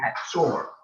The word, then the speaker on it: Hatzor: Hatzor is pronounced H-A-Z, but the Z is pronounced like a T, Hatzor.